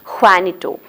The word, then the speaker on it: Juanito: Gonzalo enters, and he has got an assistant, and his name is Juanito. J is silent there. It has to be pronounced as Juanito.